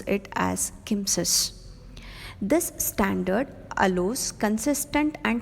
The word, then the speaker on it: CMSIS: ARM has looked to further this approach by publishing Cortex Microcontroller Software Interface Standard CMSIS, which we pronounce it as KIMSIS.